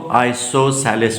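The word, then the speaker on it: isosceles: लिया जी आइसोसेलस triangle कैसे pronounce करना है इसको आइसोसेलस ट्रायंगल वो ट्रायंगल जिसमें दो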